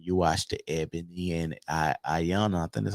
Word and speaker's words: Iyanla: Just like when you watch the Ebony and Ayana, I think that's how you say it. Ayana. Yanla. Yeah, you watch it? Yanla. Iyanla.